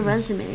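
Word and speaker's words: résumé: cv is just the resume right it's not the cover i hate writing it in english that way but we do write it that way in english even though it's pronounced resume from french yeah it's without the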